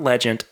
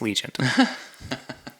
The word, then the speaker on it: Legion: I do realize that I was saying it wrong on the episode where we reviewed it it's not Legend it is Legion oh Barry I had